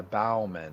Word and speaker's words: Bowman: it's called bombing um we can pronounce yeah Bauman that's what it's called wow that's about mean